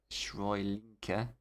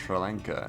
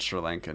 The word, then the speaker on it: Sri Lanka: Surely Frosty is gonna watch our bowlers demolish Shrylinka again. Ooh, I gotta go. Oh, Ratchet Ratchet mispronounced Sri Lanka and then ducked out.